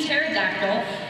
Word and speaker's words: pterodactyl: And to the teachers that spent countless hours after school putting up with my questions as to where there's a silent P in pterodactyl, and my persistent complaints